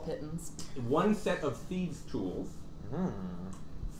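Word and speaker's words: pitons: 10-foot pole yes 10 titans which apparently is the pronunciation of that i didn't know this but p-i-t-o-n-s yeah you can go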